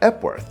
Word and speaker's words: Epworth: Epworth, pronounced Epworth, 2 syllables, is the smallest of the bunch.